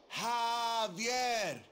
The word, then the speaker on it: Javier: get it it's Javier it's pronounced like an H jaier yeah what you mean